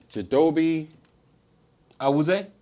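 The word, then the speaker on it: Chidobe Awuzie: You know how to pronounce his name? Chidobe. Awuzie?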